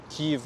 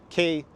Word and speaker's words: Kyiv: city Kiev or Kyiv Kyiv would be ukrainian pronunciation but actually normally comes down which way you spell it Kyiv is the official name Ukrainian transliteration and Kiev would be Russian Kiev and then you see